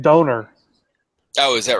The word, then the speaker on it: donair: Yeah, and I think it's pronounced donor.